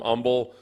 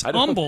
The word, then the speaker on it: Humble: him back I'm like I don't think so it's humble look at it hu MBL didn't go to a